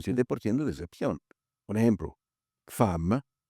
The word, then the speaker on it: femme: Un ejemplo, fam. Fam se escribe femm f e m u. ¿Por qué esa e ahí se escucha a cuando se de escuchar e abierta? Es una excepción.